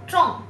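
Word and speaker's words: 众: Ce caractère, on prononce zhong. Zhong. Il y a trois jeunes ici, c'est-à-dire il y a trois personnes.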